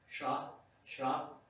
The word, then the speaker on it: Shroc: It was written as Shrock Field, S-H-R-O-C, which is a fairly good attempt at how it's pronounced. It's Shrock.